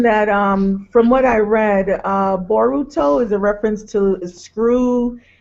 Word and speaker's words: Boruto: Boruto is the Japanese pronunciation of the English word bolt, as evidenced by the bolt he wears around his neck.